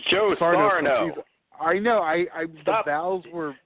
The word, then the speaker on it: Joe Sarno: is definitely moving high on my list of Joe Sarno's. Oh God, I'm saying it wrong. Joe Sarno.